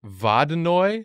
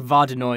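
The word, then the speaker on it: Vodyanoy: that is bobbing Oy vada Noi I think vada know is the closest pronunciation it could be vaginally spelled something like vo dya and oh I is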